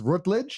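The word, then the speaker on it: Routledge: them that's pretty chill miles rutage is that how you say it R absolutely man also known as Lord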